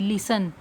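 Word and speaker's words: listen: एस T right करोगे लेकिन आवाज़ किसकी आएगी? ओनली एस की, लिसन।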